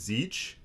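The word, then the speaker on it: Tzeentch: we have is uh i believe his name is zeach but it's spelled t-z-e-e-n-t-c-a yeah so yeah i i think we're just going to go with zeitge if i'm mispronouncing it for any warhammer nerds i apologize he's the god of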